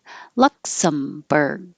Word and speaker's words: Luxembourg: Luxembourg. The same thing with the G. Your tongue goes to the G position, but not berg.